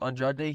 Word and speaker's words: Andrade: And that's also because Andrade, you say his name Andrade, he's moving up a weight class, and at